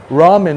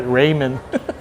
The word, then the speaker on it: ramen: And then when I repeat it, uh it becomes hardwired because I was saying ramen wrong for the longest time. I was calling it Raymond.